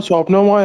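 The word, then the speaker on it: স্বপ্নময়: नाम ले लेता हूँ, स्वपन, सर वो स्वप्नमय है।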